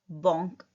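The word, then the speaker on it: banc: इसको बोलेंगे बॉन्क. ब बॉन्क. अ मैन. मैन को क्या बोलते हैं हम? ओम. एच साइलेंट रहता है बट यहाँ पे क्या बन रहा है?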